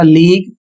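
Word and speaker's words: league: अगला शब्द है एल ई ए जी यू ई। इसे पढ़ा जाएगा लीग।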